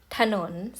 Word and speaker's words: ถนน: ไม่ มี สระ อะ จรูญ ถนน สังเกต ไหม คะ ออก เสียง สระ อะ แต่ ไม่ มี สระ อะ เพราะ ว่า ออก เสียง สละ แค่ ครึ่ง เสียง นะ คะ เพราะ ฉะนั้น